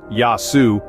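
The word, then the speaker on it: Γεια σου: phrases can go a long way for starters yasu pronounced yasu is a casual greeting equivalent to our hello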